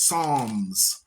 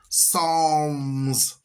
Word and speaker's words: Psalms: no P Psalms it's Psalms Psalms the p is silent like terod the p is silent you just use the T in pterodactyl even though there's a p in the front you understand boy that was hilarious